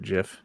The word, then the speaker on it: GIF: do you pronounce it gif you don't pronounce it gif do you peanut butter no the it's called a gif GIF right okay good if it was a gif it'd have a j right and it would